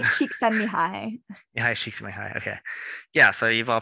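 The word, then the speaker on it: Mihaly Csikszentmihalyi: Oh, I don't know how to pronounce his name. Csikszentmihalyi. Mihai Csikszentmihalyi.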